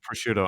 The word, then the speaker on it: prosciutto: talk about results now this is the american pronunciation okay there you go prosciutto i don't know if